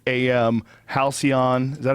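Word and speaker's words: Halcion: Halcyon. Is that how you say it? Yeah, Halcyon.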